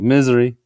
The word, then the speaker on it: Missouri: Misery is how a lot of them, Missouri, it sounds like misery, is how they pronounce Missouri.